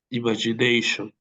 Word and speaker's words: imagination: Remember that when you have the letter T and then you have I-O or I-A, we pronounce like sh. For example, how do we pronounce this word? Ima. Imagination.